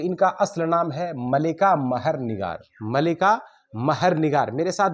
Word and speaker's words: ملکہ مہر نگار: جاتا ہے تو ان کا اصل نام ہے ملکہ مہر نگار۔ ملکہ مہر نگار، میرے ساتھ بولیں گے بھی تو تلفظ میں بھی، ادائیگی میں بھی انشاءاللہ سدھار